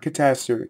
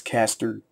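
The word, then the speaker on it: Castor: It's not Catastor. It's not A after that S. So it's Caster.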